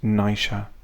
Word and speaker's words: Naoise: legend of Deirdre and Naoise, that Irish Gaelic pronounced Naisha.